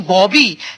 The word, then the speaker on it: बाबी: बाबी के बारे में वह पछताते कि परवीन बॉबी लेकिन इनका सही जो उच्चारण होगा वहां भी होगा बिल्कुल ठीक कहा आपने भाई सब इनको परवीन बॉबी के पर लाते लेकिन इनका असली नाम है प्रवीण बाबी और इनका जन्म हुआ